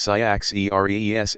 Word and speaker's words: Cyaxares: Their last two kings were Cyaxares and Astyages, pronounced Cyaxares, and Astyages, who are mentioned in the Babylonian chronicles.